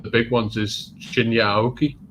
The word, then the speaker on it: Aoki: ridiculous because that's not his name it's it's pronounced aoki so apparently uh doritos asked for the heavyweight